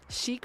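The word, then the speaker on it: Sheik: And I'm like, there is no R in my name. Chic from Zelda.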